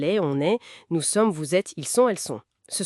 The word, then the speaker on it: vous êtes: Par exemple, la liaison dans vous êtes. On dit bien vous êtes.